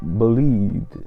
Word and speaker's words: Bolide: I don't know how to pronounce it, because the actual spelling is the same in three different languages: Italian, French and English. It's the same word for wow. So, but I know it's French, bolide.